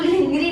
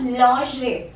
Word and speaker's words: lingerie: इसको ऐसी बोलती थी, बट इसको lingri नहीं बोलते, you will pronounce this as lingerie. Okay, lingerie, lingerie होता है, not lingri.